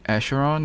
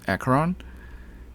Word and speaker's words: Acheron: say her name Acron I feel like I want to say asheron but it's not asheron it's acaron anyways I think she's